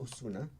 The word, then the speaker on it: Ozuna: I have So a mixture of my last Lithuanian name is Ozuna. It's pronounced Osuna.